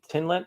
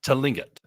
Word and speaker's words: Tlingit: So the tribes, though, are the Tinlet, I believe it's pronounced, and the Shishiman, maybe. Does that sound familiar? Tlingit.